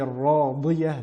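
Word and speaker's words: راضية: Dans le verset numéro 8, Ishati radiyah, bien mettre en évidence le son volumineux de la lettre dad pour ne pas la prononcer di, radiyah, car le sens change catégoriquement ici.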